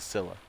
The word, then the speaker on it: Scylla: It's pronounced the Scylla.